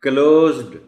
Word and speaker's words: closed: देखिए ना, अगर उनको नहीं बताया गया पहले से तो क्वाइट पॉसिबल कि वो इसको पढ़ें इस तरह, क्लोज्ड क्लोज्ड, और वो डी को भी नुमाया करके पढ़ने की कोशिश करें.